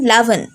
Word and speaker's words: রাবণ: ভিন্নতা দেখাতে পাওয়া যায় তারা উচ্চারণ করেন ল এর মতো সেই কারণে মাপিলা রামায়ণের মুখ্য চরিত্রের নাম লামা এবং খল নায়কের নাম সুলতান লাভন এই কাহিনীতে শুধু রাম